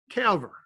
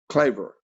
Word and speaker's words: Claver: eucharistic and i think i may hope i pronounced that right and a member of the knights of peter calver claver claver thank you coach yes yeah wow wow